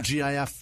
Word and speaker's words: GIF: He is exactly the the Homer Simpson in the in the in that meme or GIF. What do you pronounce? GIF. GIF. All right. I think people do it both ways.